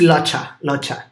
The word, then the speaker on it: Locha: Am I pronouncing it wrong? How do you say it? It's Locha.